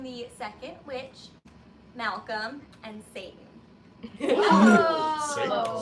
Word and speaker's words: Seyton: I'm playing the second witch, Malcolm, and Seyton. Oh. Which is spelled differently, but still sounds like Satan.